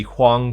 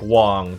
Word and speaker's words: Huang: with a W, because very rarely in English do you have like an H-U-A and have it pronounced like Hua, you know? So it sounds like Wong, W-A-N-G.